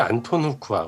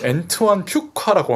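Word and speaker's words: Antoine Fuqua: 감독이 안톤 후쿠아, 그죠? 그쵸. 안톤 후쿠아인데 제가 이번에 알게 됐는데 네. 이게 잘못된 발음이래요. 그럼요. 원래 발음이 엔트완 퓨카라고 합니다.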